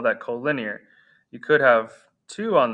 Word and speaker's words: collinear: call some things collinear that's how you pronounce that co-linear and coplanar collinear and